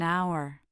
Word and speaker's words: hour: The word hour starts with the letter H, but the H is silent, so it starts with a vowel sound and we say an hour.